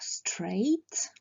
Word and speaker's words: straight: Donc on peut avoir straight, raide. Donc attention à ce mot, le G et le H ne se prononcent pas.